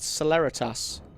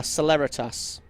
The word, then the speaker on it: celeritas: Is it Ceratas as in celebrity? Ah, celeritas. Of course, it's Latin would be how you pronounce it, wouldn't it?